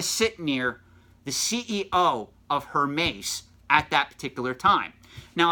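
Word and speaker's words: Hermès: she happened to sit near the CEO of her mace at that particular time now if you don't know who her mace is I can forgive you because they're a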